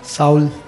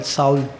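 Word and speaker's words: Saul: साउल। साउद? साउल। साउद, एस ए यू एल, साउल। साउल यानी सोल की जो spelling है उसी को?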